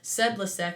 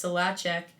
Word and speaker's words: Solacek: um Taylor solacek uh looks like her name should be pronounced said lasek but it's solacek um super strong kid